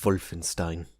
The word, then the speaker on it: Wolfenstein: __ ] love Wolfenstein yes that's the actual pronunciation and after you learn German for even a little bit hearing a whir sound instead of a the sound whenever there's a W in a German word really starts to get to you but just for you